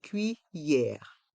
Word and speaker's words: cuillère: to le couteau la cuillère on entend bien le son ye dans le mot cuillère